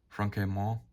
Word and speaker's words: Franquemont: Here we have General de Brigade Franquemont, I believe is how you pronounce his name.